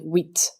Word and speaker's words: huit: The H is silent here, so it sounds like huit.